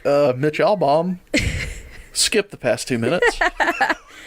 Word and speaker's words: Albom: cake isn't that Mitch Albom it is it's album right its album album is how you pronounce his name I know that for